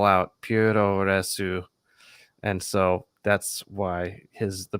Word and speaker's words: Puroresu: This is also Puroresu. That's like how the Japanese pronounce pro wrestling. Like that's how their phonetic alphabet works.